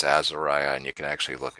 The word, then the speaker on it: Azariah: test if you actually do uh people keep mispronouncing it aeria it isn't it's Azariah and you can actually look it up but